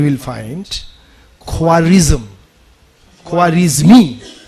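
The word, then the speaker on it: Khwarizmi: the very कासेप्ट of algebra इसकी नाम है just Google इट and then we will find क्वारिज्म क्वारिज्म मी जिसके ऊपर English spelling is just like that के एच डब्ल्यू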